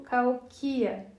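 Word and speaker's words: Cahokia: Eu até me lembrei de que deveria colocar a ênfase na terceira sílaba quando digo Calquia, ao invés da segunda, que é a forma como as pessoas brancas pronunciam essa palavra.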